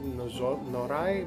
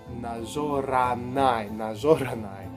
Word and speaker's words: Nazoranai: I always pronounce it Norai, but yeah, it's Nazonarai. Nazoranai.